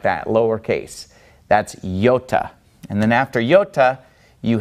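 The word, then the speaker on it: iota: moment Yoda Kappa lambda now yota if we were to pronounce it in slow motion would be yota yota and it makes an e sound because it starts on an e yota yota so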